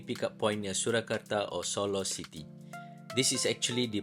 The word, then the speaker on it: Solo: No, it is not pronounced as Solo, but Solo.